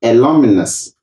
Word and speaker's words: alumnus: ghana have come to support the school one alumnus of harvard university went back to help the